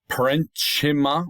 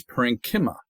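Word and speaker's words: parenchyma: the big leg one that's not parima or parima that's parankima um parankima okay it's a ch as a k so be wary of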